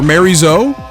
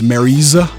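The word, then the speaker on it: Miary Zo: trailer here, specifically for Mary Zo, or I don't think you pronounce the O at the end of her name. I think it's Mariza.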